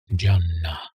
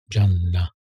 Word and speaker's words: Jannah: Jannah. Pronounce the N double.